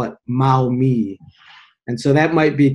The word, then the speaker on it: Maumee: It's always been Maumee to me, Maumee.